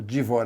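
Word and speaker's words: Dvořák: um compositor Tcheco chamado divor aqui eu vou usar aqui na pronúncia mais correta original a que compôs n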